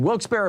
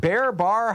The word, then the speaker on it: Wilkes-Barre: um uh Ray in Wilkes-Barre Pennsylvania is it Bear bar how do you say that Pennsylvania it's Wilkes bar isn't it Wilkes-Barre okay thank you